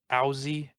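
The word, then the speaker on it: Owsey: for it because um aussie which is spelled uh o w s e y is a huge influence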